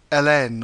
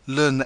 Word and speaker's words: ln: natural log of x some people say Ln or Larn X but I'm going to say the natural log of x it's shorthand for